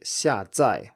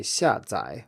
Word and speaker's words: 下载: in an official dictionary, it will say 下载 with 2 fourth tones, but this pronunciation is very rare and most people say 下载 with a third tone on the second syllable.